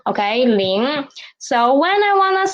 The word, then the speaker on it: 零: So when I said pronounced 零, at the end of 零, my tongue position is still at here. My nose is still working and the position of my tongue is still rising up.